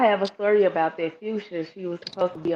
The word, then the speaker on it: Phusia: And then she was like, no, please tell me where you see an R. Do you see an R anywhere? And then I'm like, yeah, it ain't no R here.